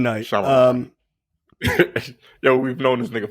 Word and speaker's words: Shyamalan: You said Shyamalan, and that's not it. M. Night. Shyamalan.